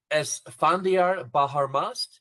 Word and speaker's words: Esse Baharmast: He is Esse Baharmast. Did I say that right, Zico? As best my Farsi, you said it right.